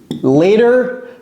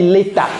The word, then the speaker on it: later: apprendre l'anglais that ler later vous voyez comment j'ai prononcé ça j'ai pas dit l'état l'état ce n'est pas l'état c'est later ler later later c'est